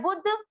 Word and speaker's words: बुद्धि: यह पूरा है , आधे 'दा' को 'बु' के साथ बुध पढ़ा जाता है और 'धा' में 'इ' मात्रा जोड़ी जाती है , 'बुद्धि', यहाँ आधा 'दा' है।